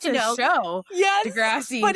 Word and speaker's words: deGrasse: Yes, deGrasse. but it's spelled almost identical, that's why.